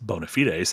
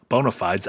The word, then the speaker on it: bonafides: Said to expand bonafites do not equal bonafides. The former is the actual phrase bonafites. The latter bonafides, a commercialized version with altered pronunciation for marketing.